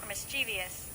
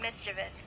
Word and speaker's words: mischievous: it as devious fact actually pronounced mischievous with no extra syllable or vowel polls show over half